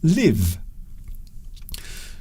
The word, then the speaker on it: live: As a verb, the word is pronounced live.